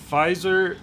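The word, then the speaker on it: Pfizer: blood clots and yeah fizer like the first syllable of f or sorry of five and the first of zero oh fer fiser fiser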